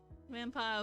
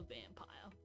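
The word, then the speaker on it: Vampyr: vamp vampire i think it's supposed to be pronounced vampire with a y we're starting on that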